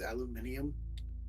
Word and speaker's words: aluminium: Don't the YouTubers also pronounce aluminum as aluminium?